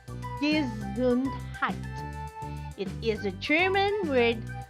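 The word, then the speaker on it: Gesundheit: that is a funny looking word which is pronounced desuned height it is a german word that wishes someone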